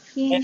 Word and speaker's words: hymn: Singing from the same hymn sheet. Singing from the same hymn sheet. Hymn. Yeah. It's pronounced the same way as him, H-I-M, like him or her.